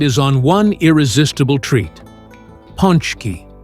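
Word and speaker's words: pączki: Ponchki, pronounced punchki.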